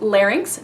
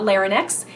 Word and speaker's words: larynx: or definitions the larynx it's correctly pronounced larynx not Lehren ex is colloquially called the